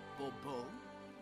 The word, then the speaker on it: Bourbeau: The emphasis falls on the last syllable. Bourbeau?